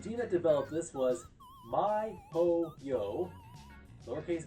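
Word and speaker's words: miHoYo: in between qual team forgive me if I mispronounced this and the team that developed this was myo yo lowercase M lowercase i Capital H lowercase o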